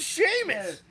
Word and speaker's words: Sheamus: And doesn't even know how to pronounce Sheamus. Saying Sheamus cuz I'm just No, his name's Sheamus.